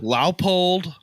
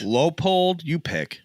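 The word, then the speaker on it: Leupold: Leopold, Oh yeah. Laupold, Right. Lowpold. You pick whichever one you like.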